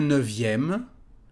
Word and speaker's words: neuvième: Un neuvième. You remember here that we have the letter V instead of the letter F in French.